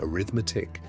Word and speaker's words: arithmetic: You learn reading, writing, arithmetic, pronounced a-rithmetic, geography, a little history, a great deal of scripture, and a song or two.